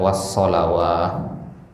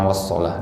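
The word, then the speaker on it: الصلاة: wasalah Lus kata wasalah Kenapa orang bacanya Ya ya wasalah bukan wasalawah ya Kenapa bacanya wasolah Di sin karena Alif itu karena tanda yang tegak itu adalah tanda tanda Alif bukan Mad Alif itu ya membuat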